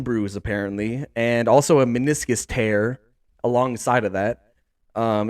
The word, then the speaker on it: meniscus: it's so bad okay meniscus tear that's how you say it okay um so yeah that that totally threw me off anyway okay okay so we're so they're saying meniscus tear okay and they're